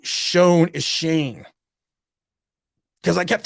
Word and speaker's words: Schoen: we all know that yeah my dad was pronouncing shone shane properly for me the other night i gave